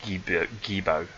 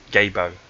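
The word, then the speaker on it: Gebo: But what Gabo represents, sometimes pronounced Gibo or Gifu, but Gabo is the correct pronunciation, is the merger that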